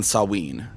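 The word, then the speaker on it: Samhain: But yeah, so it's it's a V sound. Uh, but it's sometimes a W sound like in Sawen. Uh, just S A M H A I A. S A M H A I N.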